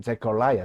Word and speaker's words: Zechariah: 원음 발음에서는 Zechariah, 사가랴가 Zechariah라고 발음이 됩니다.